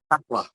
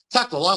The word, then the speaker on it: Takla: Takla. Takla, like somebody's having a football tackle. Takla.